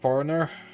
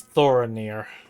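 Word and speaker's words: Thoronir: Uh, thank you, foreigner. I mispronounced the name, didn't I? It's Thorinir. Not going to lie, I just feel silly with that.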